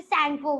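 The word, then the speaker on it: Tsangpo: निकलती है तब वहाँ उसे टी सैंगपो बोला जाता है या फिर सैंगपो बोला जाता है। टी साइलेंट होता है कभी कभी।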